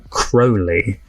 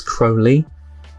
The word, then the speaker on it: Crowley: that said that I got the name wrong of crowy I thought it was Crowley apologies it's Crowley from good Omens I'm going